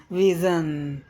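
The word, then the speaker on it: vision: एन विज विज विज तो ये एस आई ओ की जो उच्चारण है यहां वही है यह ध्वनि ये वी वा विजन वाह ए हम विज़न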